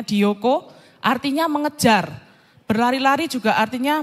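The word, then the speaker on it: διώκω: situ saya kasih apa Huruf ungker-ungker gitu ya itu bacanya dioko artinya mengejar berlari-lari juga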